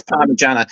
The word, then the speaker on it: Parmigiana: And to pronounce it, it's Parmigiana. So anyone that says anything else, number one, it's wrong, and I don't understand these people.